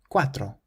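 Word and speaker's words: cuatro: the eighth word qu quatro so this word means for quatro and the C is pronounced like a k because it's followed by a u Quadro how would you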